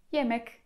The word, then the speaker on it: yemek: I ostatni dźwięk, inny niż w języku polskim, to je. Czytamy zupełnie tak jak polskie j. I przykładem będzie tutaj jemek, czyli jedzenie.